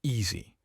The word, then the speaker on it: ESE: parts he coined at the ese framework pronounced Easy Express State how you